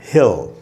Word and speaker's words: Hal: उसके बाद है हैल, ये जो वर्ड है दोस्तों HAL, हैल, ए का जो साउंड है वो इस सिंबल से निकलता है।